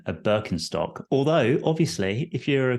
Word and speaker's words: Birkenstock: So it's Birkenstock in Ash.